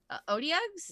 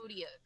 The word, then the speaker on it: Otyugh: Odiogs, Yeah.